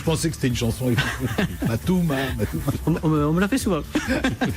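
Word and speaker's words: Mat2oma: Alors vous êtes président et cofondateur de Matouma. Exactement. Ça s'écrit M-A-T-2-O-M-A.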